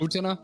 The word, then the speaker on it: Utena: You're saying it right, as I've heard it. Utena.